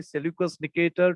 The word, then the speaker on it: Seleucus Nicator: ज्यांना pronunciation लक्षात येत नसेल त्यांनी लक्षात ठेवायचं, Seleucus Nicator.